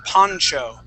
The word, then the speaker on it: poncho: here Pon yeah good we pronounce that Poncho okay so this first a this first o is going to make an a sound the next o makes an o sound PA Poncho okay and